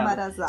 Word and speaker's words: embarazado: É embarazado. Sim, porque a Z... Você pronuncia como S.